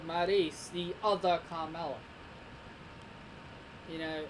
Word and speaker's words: Maryse: It's Maryse, not Maurice."